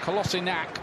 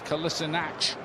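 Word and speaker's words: Kolašinac: There's been a bit of a debate about how we say his name. He told Arsenal Kolasinac, but apparently in Germany he was always known as Kolasinac. Yeah. I think he was trying to sort of give an English version of it.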